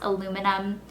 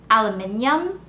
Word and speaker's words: aluminium: about the fact that in England you guys pronounce aluminum aluminium alumin alumin aluminium or something and I could never